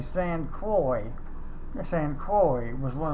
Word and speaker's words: Saint Croix: I found out what the proper pronunciation is saint a saint croix the saint croix was